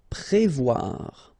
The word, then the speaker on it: prévoir: Okay, remember O and E together, you will get the sound wa, wa, wa, wa. Voir here, and then pré. Prévoir.